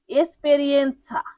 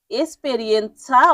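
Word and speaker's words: esperienza: এবার পরের শব্দটি হল এসপেরিয়েন্সা। এসপেরিয়েন্সা অর্থ অভিজ্ঞতা। তাহলে ইংরেজিতে আমরা এটাকে কি বলি? এক্সপেরিয়েন্স। সেই এক্সপেরিয়েন্স এর মতই ইতালিয়ান উচ্চারণ এক্সপেরিয়েন্সা মানে অভিজ্ঞতা। আর এক্সপেরিয়েন্স মানে অভিজ্ঞতা।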